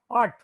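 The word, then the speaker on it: आठ: A or T, art. A or T, the last letter you have to pronounce only half.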